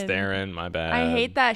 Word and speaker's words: Theron: midwest now Charlize Theron as Cipher Baron it's pronounced there it's Theron my bad I hate that she should just